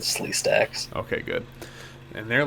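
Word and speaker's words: Sleestak: He was probably like Slay Steak. No, I pronounced it right. I pronounced it Slee Stacks.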